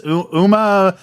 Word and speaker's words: Umamusume: It's like, I can never pronounce it. It's Umamusume, the Pretty Derby.